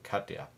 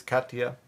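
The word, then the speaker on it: Katia: edge here is Hurricane Kya which someone told me because I complained complained about yesterday how I pronounce the name of this tropical storm is Kaa so there we go now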